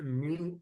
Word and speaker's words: mu: ठीक है, म्यू ऐसे प्रोनाउंस करते हैं, ऐसे म्यू है इसका, लेकिन इसे हम माइक्रो बोलते हैं।